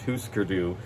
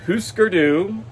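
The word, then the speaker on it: Hüsker Dü: people in um husker dude i know it's pronounced husker do because one of the announcers on npr did an interview with grant hart that i listened to and that's how she pronounced it so it's who skurdu we're not going to say husker even though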